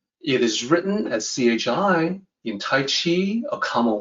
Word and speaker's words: 契: so here's the pinion Chi so it sounds just like the chi in Qigong Chi it is however a